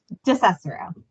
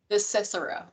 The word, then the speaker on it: DeCicero: It's DeCicero. DeCicero. There. If folks speak Spanish, it follows that convention. DeCicero.